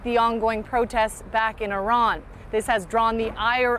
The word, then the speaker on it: Iran: Our country is named Iran, not Iran. Please, once and for all, let's get this clear.